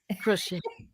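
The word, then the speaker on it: crochê: Like Portuguese we say crochet, but without the T. crochet. We have a little accent on the E.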